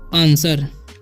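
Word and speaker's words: answer: ठीक है, द आंसर, इसे पढ़ेंगे आंसर, आंसर। ठीक है, इसे आंसर पढ़ते हैं। ठीक है, आंसर नहीं पढ़ेंगे। ठीक है, डब्ल्यू जो है यहाँ पर है साइलेंट है।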